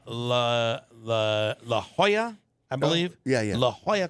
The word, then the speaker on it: La Jolla: The beach in San Diego called La Jolla, I believe. Yeah. La Jolla Cove. Spelled with Jolla, La Jolla. 2 L's, that's a Y sound, La Jolla.